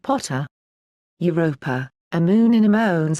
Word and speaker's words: Pater: Ammon is also Pa, Thor, Jove, and Pater, pronounced Potter.